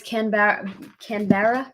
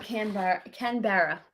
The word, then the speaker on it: Canberra: Oh, it's Canberra.